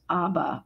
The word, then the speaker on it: Aba: may know it as Aba which is the Chinese um pronunciation sort of like the Swedish band and um also it